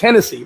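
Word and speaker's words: Génesis: It's pronounced Hennessy, but it's spelled Genesis.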